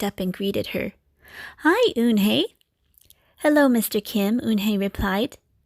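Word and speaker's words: Unhei: Kim then turned to Joey she nodded slowly yes it's pronounced hoon Hey and it means grace mr. Kim added oonh hey Joey said slowly and this time perfectly it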